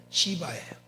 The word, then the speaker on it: 시바: 그 사람의 이름을 발음을 잘 들어야 돼요. 시바예요. 잠이 올 때는 발음을 세게 할 줄 몰라요. 누구라고요? 잘해 발음을. 시바. 발음이 시바예요.